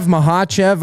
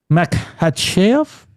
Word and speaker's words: Makhachev: Makhachev.